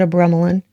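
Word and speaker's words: Abramelin: You have here the card of Abremelin, or it's pronounced all different types of ways. I pronounce it Abremelin.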